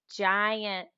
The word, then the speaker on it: giant: Down, giant. That has a soft G.